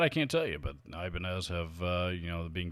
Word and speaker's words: Ibanez: it's just you know it's not the hispanic uh pronunciation of the banyas that many of us over here in the west are familiar with but you know regardless i mean the company has always pronounced it ibanez so if that's how